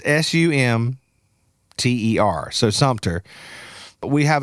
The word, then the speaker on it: Sumter: how to pronounce it well it's Sumter but there's no pee in it people are people people think it's Sumpter you know they're like I'm like well there is something but it's sum t-e-r so Sumter but we